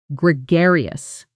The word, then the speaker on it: gregarious: Pronunciation: gre gar-e-ous. The stress is on the second syllable. Gregarious.